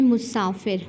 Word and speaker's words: مسافر: ہمارے پاس لفظ ہے مسافر۔ مسافر میں پہلا حرف ہے مضموم، دوسرا ہے مفتوح، تیسرا ساکن، چوتھا مکسور۔ اب ان کو دیکھتے